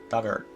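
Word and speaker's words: Dugort: on the island pronounce the pronunciation dug like in the past tense of dig or rhyme should hurt duggar okay dart the big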